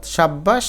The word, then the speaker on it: সাব্বাস: অর্থাৎ ব যদি দুইবার থাকে তাহলে দুইটা বকে উচ্চারিত করতে হবে। যেমন তিব্বত তিব্বত। সাব্বাস সাব্বাস।